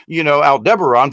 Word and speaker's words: Aldebaran: Because if I talk about, Aldebaran, people are going, well, you're wrong.